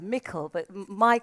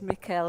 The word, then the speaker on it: Mikael: A haunting and dramatic dance piece there by the multi-talented, visually impaired performer who I mistakenly described as Michael, but it's Mikael.